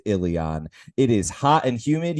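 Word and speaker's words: Illian: arrive in Ilion, which is apparently pronounced Ilion.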